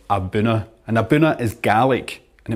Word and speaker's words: A'bunadh: well abber abuna just to stress again that's pronounced abuna and abuna is GIC and it means origin